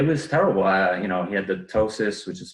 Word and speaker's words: ptosis: He had the ptosis, which is spelled Ptosis, where his eyelids started to droop.